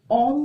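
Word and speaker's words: ॐ: Third आई चक्रा में ओम का उच्चारण होता है। ये ओम का उच्चारण जो होता है, ओम नहीं कहना है आपको, ये होता है ओम, ठीक है, जिसमें आपका AUM होता है।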